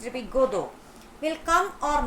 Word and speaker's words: Godot: Even if they are not sure, even they are not even sure that if the person, that Godot, Godot, it's pronounced to be Godot, will come or not.